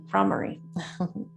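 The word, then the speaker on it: Bhramari: you fall asleep, is called the Brahmari breath, or Brahmari is the correct pronunciation.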